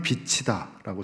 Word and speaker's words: 빛이다: 그런데 뒤에이 이응이 붙으면 차이가 납니다. 뒤에 이응이 붙으면 빛이다. 이렇게 돼요. 빛이다. 나는 세상에 빛이다. 치유 발음이 뒤로 가서 근데 지으시면 빛이다. 이렇게 발음이 되지 않고 빚지다 이렇게 발음이 되는 것이죠.